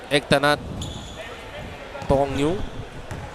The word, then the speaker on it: Ektanat Tong Yu: And this is Ektanat Tong Yu. And even though I'm pronouncing his name with the Thai pronunciation, that is how he has taught me to say his name.